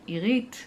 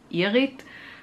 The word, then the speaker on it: Irit: In Israel, it's pronounced the way that I like, irit. There's a softer R to it, and the, you know, the emphasis is on the second syllable and not on the I, irit.